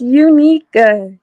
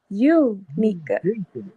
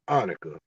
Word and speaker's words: Unica: First I want to correct how you pronounce my name. Okay. It's Unica. Unica. Oh my God, I'm talking about some Annika. That's a Yeah, unique. you was all the way off.